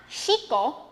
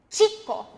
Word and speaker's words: chico: It's not chico. That would be an sh sound. It's chico. So, you're already doing it. Your tongue is sort of blocking the air from coming out. That's what produces the ch sound instead of the sh sound.